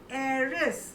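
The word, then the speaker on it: heiress: एरस एस बोलो सानिका आप भी ए एंड एरिस बोलो एरिस फिर से बोलो एरिस और बॉय को क्या बोलते हैं?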